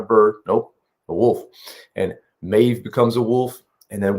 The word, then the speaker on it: Maeve: Is it Mauve? Mauve? Mauve? I don't think it's Mauve. No, I think it's Maeve.